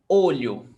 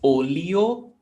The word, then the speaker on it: olho: Olho. Olho. LH, 1 sound. L. Students think it's olio, like olio. olho, olho. It's one sound, okay?